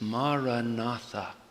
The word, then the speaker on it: Maranatha: for Arabic and Hebrew the word in four simple syllables is Maranatha Maranatha means come Lord